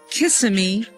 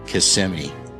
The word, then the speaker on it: Kissimmee: Honey, do you think it's called Kissm or Casemi? I wish it was Kiss. However, the real pronunciation is CMI.